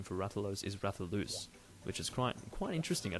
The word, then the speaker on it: Rathalos: I believe that the correct pronunciation for Rathalos is Rathalus, which is quite interesting.